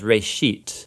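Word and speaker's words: רֵאשִׁית: It's pronounced reshit, and it just means beginning.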